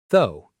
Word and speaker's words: though: A lot of learners try to say every letter but it's actually very short though. Almost like the word go but with a th sound.